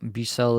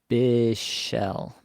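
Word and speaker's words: Bichsel: me the pronunciation here bishell bishell okay that's actually easier bishell all right according to the 2023 24 NHL pronunciation guide It's lean bishell Le and Bell I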